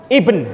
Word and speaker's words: ibn: Sebenarnya nggak boleh ngomong bin, Pak. Bin itu saya dulu didukani dosen saya karena saya bacanya bin. Harusnya nggak boleh dibaca bin, tapi dibaca ibn gitu.